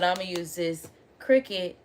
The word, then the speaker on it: Cricut: because they spelled it like this, but it's pronounced Cricut, but it's spelled Curated, and I feel like